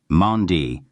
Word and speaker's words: MOND: Mandi pronounced like Mondays, was first proposed in 1983 by Israeli physicist Mordeai Mgrim.